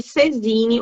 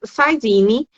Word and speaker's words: saisine: tenho pelo princípio de cesine ou saisine que se escreve né mas é um princípio francês Então se diz saisine tá a partir deste